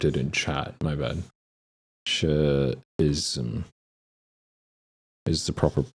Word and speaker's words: Nietzscheism: Nietzscheism is the proper pronunciation.